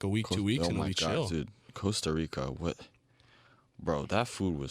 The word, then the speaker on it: Costa Rica: facts about it one the actual pronunciation is Costa Rica uh because they're the they're the one Spanish country that doesn't really roll their r's oh I'm from Costa